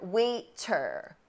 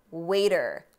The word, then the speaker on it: waiter: Americans say water, waiter, and butter. Head scratcher, right? Okay, well, we don't pronounce the T. Instead, we say these words with a D sound in a few scenarios, and I'm going to explain.